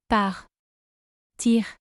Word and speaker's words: partir: Par. Tire. Par. Tire.